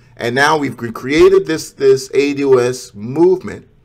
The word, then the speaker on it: ADOS: Okay, so you say AU, is it pronounced AUS? Is that it? It's ADOS.